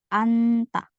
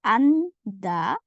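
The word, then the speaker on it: 앉다: An, baru jiet ketemu diget, jadi anta. Tulisannya anda, bacanya anta. Ya, anta.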